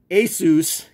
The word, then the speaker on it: Asus: to say because I always said Asus but it's Asus and it's supposed to be the end of Pegasus but anyway if Benke